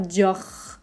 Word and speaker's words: Dior: r est pas très fort va pas faire dior juste dior dior dior ensuite on a quartier